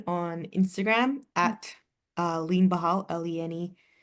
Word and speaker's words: Behal: Um, you can find me on Instagram at uh Lean Bahali B E H A L or Bahal. Sorry, that's how I'm supposed to pronounce my last name.